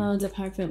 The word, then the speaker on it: Eau de Parfum: Eau de Parfum. You have to say it like that.